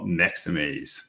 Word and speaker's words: Maxamaze: I'd like to introduce Fatos Fatin from Maxamaze. Did I pronounce Maxamaze correctly?